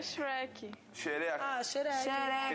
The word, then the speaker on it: Shrek: Não é Xereca? Eu pra mim você tava zoando. É Shrek.